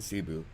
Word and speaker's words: Cebu: He's off to um he's off to M Cebu. That's how you pronounce it.